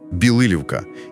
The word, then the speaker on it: Білилівка: І одразу, щоб ми правильно все вимовляли, наголос на другий склад. Білилівка. І річка там розставиться. Авже ж, Білилівка стоїть саме на річці Роставиці.